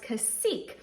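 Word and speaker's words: Cacique: Bryant intimat brand and it is pronounced casek so thank you so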